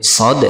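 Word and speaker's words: ص: Kemudian di sebelahnya ada huruf shad ya. Cara membacanya seperti ini, shad. Nah, 3 ayunan atau 6 harokat. Shad. Bukan kita baca so ya, atau dibaca cepat sod, tapi dibaca panjang 3 ayunan, dan huruf terakhirnya di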